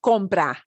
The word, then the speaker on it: compra: But we want to pronounce this as compra, compra.